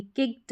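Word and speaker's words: kicked: अब निकालेंगे क्या, इसमें देखिए फिक्स्ड है, फिक्स्ड ट साउंड ही आ रहा है अगर आप सही तरीके से प्रोनाउंस करेंगे। किक्ड है, किक्ड, तो ट साउंड आ रहा है, किक्ड।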